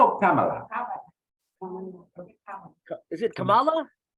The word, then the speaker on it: Kamala: Kamala or Kamala? Is it Kamala?